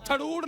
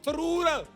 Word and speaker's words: थरूर: अब जो शशि थरूड है वो थरूड नहीं थरूर शो में पक्का कौन है?